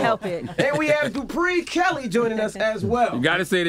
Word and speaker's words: Dupré: You got to put the accent on the E. Dupré Kelly.